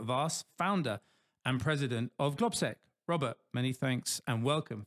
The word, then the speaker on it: Globsec: quite confused about is I say glob SEC other people say glob sec how do we say it properly it it depends whether you say it in soic or English but we say globi okay globi how many